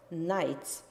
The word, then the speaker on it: Knights: damaged and destroyed Knights mind the pronunciation of this word Knights uh Knights are so